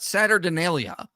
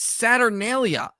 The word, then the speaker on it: Saturnalia: so many past videos it's not Saturn Denia like Saturn deelia or something he adds like an extra syllable in there it's saturnalia listen I am no